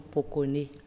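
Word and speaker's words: Pokoné: Aujourd'hui, nous allons parler du prénom Pokone. Pokone. Pokone. Ça s'écrit P-O-K-O...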